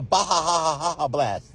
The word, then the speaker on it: Baja Blast: You just gotta say it right. It's the Baha blast. He's saying pronouncing it right.